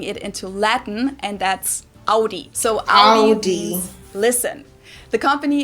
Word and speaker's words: Audi: the first one is aie most Americans that I know pronounce it like I just said it aie in German we say AI Audi and there's actually a